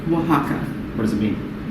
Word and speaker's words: Oaxaca: you know i just i just froze a oaxaca old-fashioned saying again oaxaca oaxaca oaxaca what does it mean it's an area in